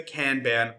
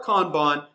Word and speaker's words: Kanban: these new feature releases, and that is the Kanban or Kanban, depending on how you choose to pronounce it.